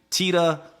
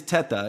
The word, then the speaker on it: Teta: mispronouncing your name yeah because the correct pronunciation actually is Teta because I am Italian but for some reason uh my parents and when we came over or changed it to Tita so I answered to Teta Teta or uh or